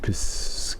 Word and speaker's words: piscine: It initially possessed amphibious and piscine? How do you say this? Pronunciation, please. Piscine. Piscine. Huh. And meaning? Of or concerning fish. Oh yeah, like Pisces.